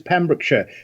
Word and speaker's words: Pembrokeshire: American host managed and yes you quite correct it is pemrick Shire but thank you so